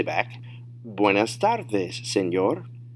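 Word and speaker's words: señor: say back buenas tardes senor notice the pronunciation is going to be a little bit different from english because when you see the e in spanish it's an a sound and a lot of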